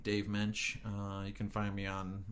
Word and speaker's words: Mensch: And it's Mensch. Correct. But the S is silent. Kind of, yeah.